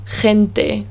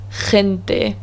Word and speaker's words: gente: learning spanish which is the very throaty h sound the sound for example the word gente which means people gente or the word now